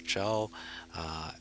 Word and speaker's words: Zhao: Zhao. It okay, it's a Chinese name. Okay, how to say it is the ZH make a Z sound. Okay, so we have a AO, so it's Zhao.